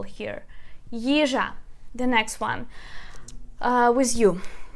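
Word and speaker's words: їжа: The next one is the word yizha. Yizha, it means food. Yizha. Let me just write a transcription for you. A stress. Yizha. Yizha. So we put stress on the first syllable.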